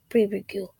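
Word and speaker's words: pirogue: Instead, he moves about in a perigue, pronounced perigue.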